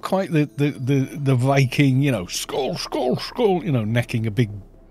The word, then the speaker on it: Skål: Is it more of an oh sound? I don't know. I don't know my Nordic pronunciations. You're saying skull. You're missing that. How's that pronounced? Let's ask Google. Come on, Google Translate. You're so good at this stuff. Right, detect language. Swedish detected. English bowl. Skål. It's more O sounding.